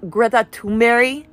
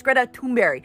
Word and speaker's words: Greta Thunberg: It's actually pronounced Greta Thunberg.